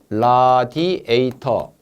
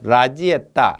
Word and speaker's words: 라디에이터: 자, 라디에이터가 안 나니까 일본식 발음을 라지에따, 라지에따. 자동차에도 앞에 보면은 냉각기 있죠. 라지에따, 라지에따 말인데 라디에이터가 맞습니다.